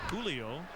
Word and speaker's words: Julio: julio is on so breaks the the line of surnames that start with h although you pronounce it julio here we go